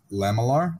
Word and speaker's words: lamellar: you guys are familiar it's like lamellar I think is how you pronounce that's it yeah I